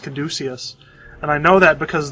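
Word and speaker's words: caduceus: I keep calling him Kaduca's face. I guess it's pronounced Kaducius.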